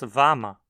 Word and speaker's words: wann: Weiß jemand, wann man dorthin gehen kann? Alguém sabe quando se pode ir lá? Aqui o advérbio interrogativo wann, onde, se transformou em vam. Não dizemos wann ma, mas vama.